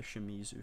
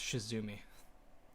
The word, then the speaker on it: Shimizu: I always forget that they're called the Shimizu family. Yeah, I always think it's Shizumi.